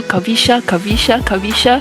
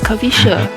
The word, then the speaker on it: Kavisha: I kept calling you Kavisha, and then yesterday she said, no, it's Kavisha.